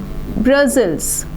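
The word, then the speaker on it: Brussels: Okay, ये जो है ये है आपकी कैपिटल जिसका प्रोनाउंसिएशन है ब्रसेल्स।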